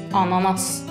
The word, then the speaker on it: ananas: is a pineapple i Norway we call it ananas It is SP a n a n a s try it ananas This is called a grape